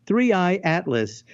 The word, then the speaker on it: 3I/ATLAS: The name whispered among scientists, three Atlas, pronounced threeey atlas.